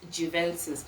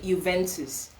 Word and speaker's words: Juventus: This is a game that Juventus, okay, in Nigeria we call it Juventus. The pronunciation is actually Juventus.